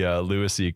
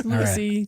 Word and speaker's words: lewisii: I loved the Lewisii clarkii. Is that how you say it? Or is it a long I? That works. Lewisii clarkii.